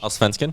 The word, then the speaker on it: Allsvenskan: Tyler, I need pronunciation. Allsvenskan?